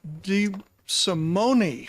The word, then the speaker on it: DeSimone: The vice chair kindly introduced the bill for you, and now DeSimone. It is Italian. We pronounce every letter. Not to be confused with French, where we skip some of them, right?